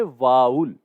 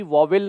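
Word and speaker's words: vowel: इसको बोलना है वाउल, राइट। तो इसको कभी भी वॉवेल नहीं बोलेंगे, गलत प्रोनाउंसिएशन नहीं करना है हमें, हमें ध्यान रखना है ये क्या होगा? ये होगा वाउल, राइट।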